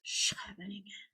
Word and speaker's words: Scheveningen: It's actually pronounced Scheveningen.